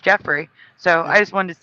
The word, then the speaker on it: Geoff: Myself, when I saw the GEOFF, I thought that was Joffrey, not Jeffrey. I thought that was a different name. I thought you pronounced it Joffrey, but apparently, according to Toys R Us, it's also pronounced Jeffrey.